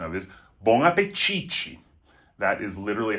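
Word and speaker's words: bom apetite: Another great one, which is a little hard to figure out the pronunciation of, is bonapichi.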